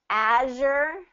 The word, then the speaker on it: azure: two pronunciations of that azure azure you know it has that z sound azure file and fire